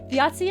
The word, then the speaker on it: Thiazi: were the ones to get alts, and then Thiazi, I think is how you pronounce. Yeah, okay, I got that right. Thiazi and Nidhoggr were the only 2 characters to be introduced.